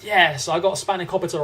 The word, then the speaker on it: spanakopita: By the way, that's how it's pronounced. Yes, I got spanakopita right.